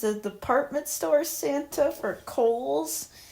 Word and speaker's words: Kohl's: Santa Claus is Santa Claus takes a job as a department store Santa for Kohl's. And it's spelled like the name Cole for those who don't know.